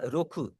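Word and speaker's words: 六: 6 है आपका रोखू। रोखू हम बोलते हैं।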